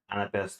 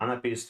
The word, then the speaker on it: anapest: Anapest or anapist, you can pronounce it as you want. At least that's what dictionary of Oxford tells. So yeah, anapist or anapest, they didn't figure out this back then.